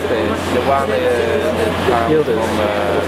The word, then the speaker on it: Yildiz: And this is Yildiz. Has a smile on its face. The one is Yildiz. That's how you pronounce it.